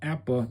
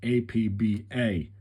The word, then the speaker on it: APBA: known of course simply as Apple incidentally is pronounced APPA not apba okay and there's your uh it was uh